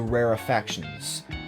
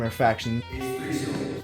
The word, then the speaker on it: rarefactions: These are called the rarefactions. It's 3 syllables, despite what Titus from the previous video might think.